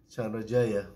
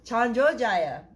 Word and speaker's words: Chandrajaya: Chandrajaya. Chandrajaya.